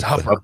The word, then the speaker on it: Hooper: Do you pronounce it where she's from, Hooper or Hupper? Is it Hupper? I think Hupper is Hupper, Nebraska. It's Hupper. Nebraska. Nate Larson, our good friend Nate Larson, is no longer at Hupper.